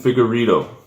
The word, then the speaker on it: Figueiredo: And then we go to the Joseph Benavidez versus how do you pronounce his name? Finagora? Divison Figueiredo.